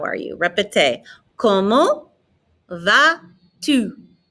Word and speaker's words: Comment vas-tu: Comment vas-tu? Notice I'm not pronouncing the T on the end of comment. I'm not pronouncing the S on the end of va.